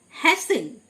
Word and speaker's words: hasten: হ্যাসেন, HASTEN, টি silent, হ্যাসেন, মানে তাড়াতাড়ি করা।